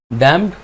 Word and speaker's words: damped: ठीक है, डैम्प्ड DAMPED, डैम्प्ड oscillation. आखिरी पी साइलेंट होता है, उसको डैम्प्ड ऑसिलेशन नहीं कहेंगे, दैट इज डैम्प्ड ऑसिलेशन।